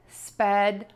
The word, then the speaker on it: speedometer: And now we're gonna change the stress for the ometer suffix, which is the ending, for words like thermometer and speedometer.